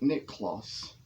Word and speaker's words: Niklaas: sort of see these two carvings of saint nick kloss his name after saint is spelled n-i-k-l-a-a-s it is a little pattern out